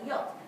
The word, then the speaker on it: yacht: is it's the c-h-t if you were to pronounce that as its spell you'd probably say which is isn't how we say it at all we just say yuck in many ways you don't actually hear the ch it's quite a strange